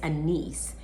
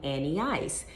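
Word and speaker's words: Anneice: of this name um my name is anis and so when you spell it out a-n-n-e-i-c-e i used to work with this uh girl and she would call me annie ice because when you look at this and e and then ice and the ice i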